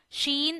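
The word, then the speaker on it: شين: Sheen and Jeem are pronounced from the same place. Middle of the tongue, middle of the palate.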